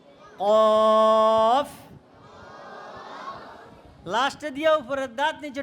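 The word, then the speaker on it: كاف: উচ্চারণ হবে এটা কি হবে পাতলা উচ্চারণ কি বলতে হবে কাফ কাফ কাফ নয় তারপরেও কাফ বলা যাবে না কি কাফ আরো পাতলা calf calf calf calf calf calf ঠিক আছে এভাবে পাতলা করে উচ্চারণ করতে হবে এরপরেরটা দেখো লাম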